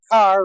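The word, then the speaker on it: Kerr: Yazzie, what did you think about Deborah Carr, rhymes with star, playing three different women, and all of them only relating to how they looked to the male characters?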